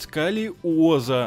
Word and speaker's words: сколиоза: ее за футбольный мяч профилактика сколиоза звучит как заклинание из гарри поттера но вообще-то нужно произносить сколиоза они сколиоза и да друзья всем